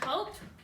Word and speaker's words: hope: silent e double underline we can say hope hope o says o because of the final silent e um a what would